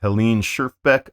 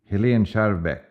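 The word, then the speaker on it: Helen Schjerfbeck: Today's featured painting is this by Helen Sherbeck. I'm mispronouncing that. Here's how Wikipedia pronounces it. Helen Sherbeck.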